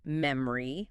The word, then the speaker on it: memory: Because the natural stress timed way to say it is memory or maybe memory. We hit the first syllable incredibly hard, mem, and that middle O just collapses into a schwah or disappears completely.